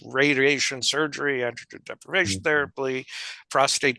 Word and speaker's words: prostate: surgery an deprivation therapy prostate cancer is not pronounced with an extra R you know that kind of stuff it's where if a man comes in and pronounces it prostrate you don't get on